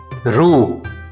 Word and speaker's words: ル: Ra, ri, ru, re, ro.